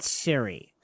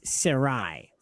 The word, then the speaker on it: Sarai: There is no Hebrew word Siri. It's Sarai.